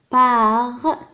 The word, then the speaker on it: par: par هنا R هنا في آخر الكلمة ينطق. par les ES قلنا E donc les piller.